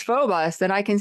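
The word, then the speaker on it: Phoebus: it was f I I thought it was Feebas. Okay. Yeah. It's Phobus and I can say I've heard it both ways.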